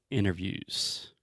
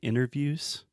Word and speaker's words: interview: English but in general when we say interviews I do not pronounce the T so I'm not saying